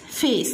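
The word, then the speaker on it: face: في في اي اي, سمعين الصوت فيس فيس, طبعا الاي لا تنطق ولكن بتطول الحرف اللي ايه بيجي في النص المتحرك فيس.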